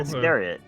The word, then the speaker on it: Iscariot: Is that how you pronounce it? Iscariot? Iscariot.